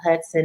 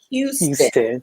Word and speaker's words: Houston: And you've been letting me call you Hudson, and it's pronounced Houston. Yeah, it's okay. It's all right. Where I'm from, I know some Houstons. Of course, it's spelled different. H-O-U-S, just like it's like Texas.